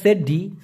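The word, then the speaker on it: sedih: হলো দুঃখগ্রস্ত গ্রস্থ আমরা জানি অনেকে মালয়েশিয়ান ভাষায় সেড্ডি সে ডি উচ্চারণটা হবে ছয়কার ডরশি হ সেড্ডি মানে হচ্ছে দুঃখ বা দুঃখী স্যাড ইংলিশে যেটা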